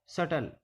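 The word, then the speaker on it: subtle: B silent रहता है जब टी से पहले बी आए तो बी साइलेंट रहता है जैसे डी ओ यू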